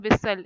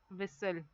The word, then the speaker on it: whistle: in these words then whistle here T is silent whistle so you can write